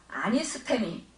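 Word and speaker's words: ἀνίστημι: 부활을 헬라어로 아니스테미, 에게레시스라고 발음합니다.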